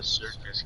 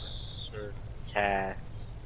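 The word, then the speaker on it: Cirkus: there's more than one circus people and that guy's good looking it's circus but it's spelled c-i-r-k-u-s you cannot go inside sir cass but you can go on top of the circus oh thank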